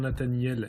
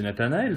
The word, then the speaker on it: Nathanaël: Ah oui, Castor arrivera-t-il à prononcer correctement Nathaniel et pas Nathanaël? Bah, c'est Nathanaël, c'est ce qu'on dit depuis le début.